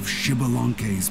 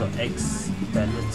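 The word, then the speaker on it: Xbalanque: Yeah, Shibalanke, that's how you pronounce it. Yeah, I remember that story. My grandpa spelling. Told it to me when I was a little kid. I thought it was pronounced on X balance or something.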